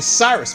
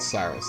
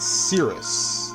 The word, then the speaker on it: Cyrus: When I was a kid, I pronounced it Cirrus, like a Cirrus cloud, which I guess makes sense because square after this named their characters after Weather Phenomenon, but no, his name is not Cirrus.